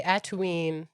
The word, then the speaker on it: A'Tuin: Yeah, and it does rhyme with Tatooine from Star Wars, which I think makes sense.